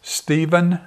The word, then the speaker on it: Steven: fácil é mais fácil como é que se pronuncia o seu nome em inglês Steven mofatt rica então mesmo